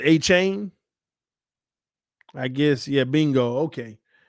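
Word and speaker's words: Achane: missing everybody name up a chain is it a chain or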